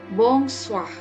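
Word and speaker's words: bonsoir: kita gunakan nabongs Wah dibacanya bongsor ya lagi-lagi airnya tidak tidak ada bunyi ya kalaupun misalkan ada bunyi dia pasti sangat sangat kecil sekali bunyinya jadi bos Wah Hai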